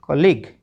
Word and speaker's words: colleague: किसी भी शब्द के अंत में आए हुए GUE में भी यू का उच्चारण नहीं होता, ठीक है। यू बिल्कुल साइलेंट रहता है। जैसे COLLEAGUE कॉलीग, कॉलीग होता है सहकर्मी, साथ में काम करने वाला।